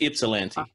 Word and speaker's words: Ypsilanti: I've been saying Ypsilanti, so it's just Ypsilanti.